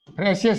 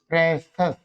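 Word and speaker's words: precious: Mischievous नहीं बोलना है, याद रखो इसको, क्या बोलोगे, मिस्चीवस, जैसे ग्रेसस, मिस्चीवस, प्रेसस, प्रेशियस नहीं, इसको क्या बोलोगे बच्चों, प्रेसस, प्रेसस, प्रेसस, प्रेसस, नॉट प्रीशियस।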